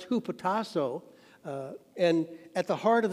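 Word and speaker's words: ὑποτάσσω: should submit the greek word for submit is pronounced who potasso and at the heart of that word is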